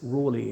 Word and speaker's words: Raleigh: Because I know people say Raleigh. There's Raleigh in the United States. But then I was told that by one of his descendants, it really is pronounced Raleigh, not Raleigh.